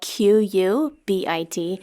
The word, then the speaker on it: qubit: Q U B I T not like Q dash B I T. It's not like Q-tips, it's a qubit.